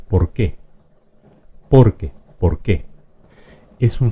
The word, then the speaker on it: por qué: Esta que es una palabra aguda se pronuncia por qué.